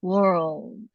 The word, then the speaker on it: world: hear that world yeah so the the D sound of world it doesn't have to be a big duh it can just be almost like a tea world it's just a little